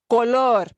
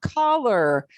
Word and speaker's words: color: The temptation, and it's a temptation from our English-speaking brains, is to anglicize it, but calor, color. Color. And there are two completely different words. They have different meanings. So if you schwa that one, people won't be sure what you're really saying.